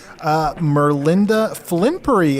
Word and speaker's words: Merlinda Flimpery: Let's talk to our guest, Merlinda Flimpery. Am I pronouncing that correctly, Merlinda?